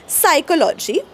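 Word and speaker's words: psychology: नाही रू नंबर एक जेव्हा पी आणि एस एकत्र येतात प्लस एस तेव्हा पी सायलेंट होतो जसं की सायकॉलॉजी सायकट्रिस्ट ओके सुडो म्हणजे खोट केव्हा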